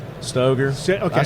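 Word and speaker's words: Stoeger: I never know how to pronounce the name. Stoger. Stoger. Okay. I say Stoger.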